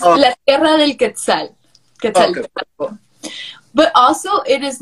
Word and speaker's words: Quetzaltenango: So it's Quetzaltenango. Quetzaltenango. Yes. It's La Tierra del Quetzal. Quetzaltenango.